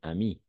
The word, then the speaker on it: amie: Se prononce une amie, n'est-ce pas? Une amie. E à la fin est muet.